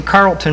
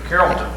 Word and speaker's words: Carrollton: scouting he's originally from carlton missouri carrollton carrollton i'm a yankee excuse me i pronounce all the letters and himself was a